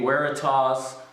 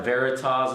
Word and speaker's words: Veritas: So now I've got a honing guide here, and this is a Veritas honing guide, or Veritas as some other people might pronounce it. It's Latin for truth.